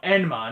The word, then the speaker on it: Enma: Emma, King of the Underworld. No, Enma, not Emma.